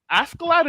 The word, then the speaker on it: Askeladd: Askeladd is a weirdo.